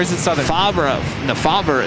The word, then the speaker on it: Favre: No, Fabra is the correct way to say it.